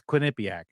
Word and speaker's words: Quinnipiac: I'm not even making that up the the Quinnipiac poll which let's just face it it's fun to say Quinnipiac isn't it is that how you pronounce that I never knew yeah it's Quinnipiac huh okay and uh it's it's one of